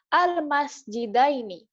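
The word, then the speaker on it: المسجدين: kalau kemasukan huruf Jar dibacanya almasjidaini Bukan almjidina tapi almjidain dalnya atau huruf sebelum ynya itu dibaca fathah almasjida ini kemudian Nun yang paling belakang dibaca kasro almasjida ni almasjidaini yang tadinya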